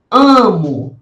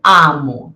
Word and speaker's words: amo: Amo, né? Eu não digo amo, eu digo amo. Veja só que eu não abro tanto a boca.